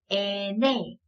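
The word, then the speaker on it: ene: 이어서 에네. 에네. 니은 소리를 가지고 가고요. 그 다음 알파벳이 좀 특이해요. 에니 라고 하는 애가 있어요. 얘는 에네, 그쵸?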